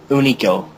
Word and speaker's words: Hunico: Actually, they're pronouncing it Unico. The H Unico. is silent now.